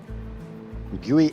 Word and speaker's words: GUI: It'd be pronounced gooey x. Guey x.